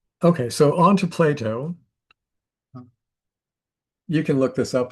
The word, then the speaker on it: Plato: Because most people pronounce his name like with a D, Playdato, but it's a T, Plato.